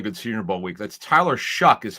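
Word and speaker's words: Tyler Shough: That's Tyler Shuck is how you pronounce it out of Louisville.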